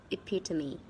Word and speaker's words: epitome: food during tape so remember one more time it pita mean it pita mean epitome